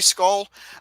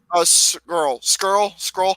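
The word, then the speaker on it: Scurll: Marty Skull. Marty Skrull. You dumb shit. Skrull. I cannot pronounce his name but well for the life of me.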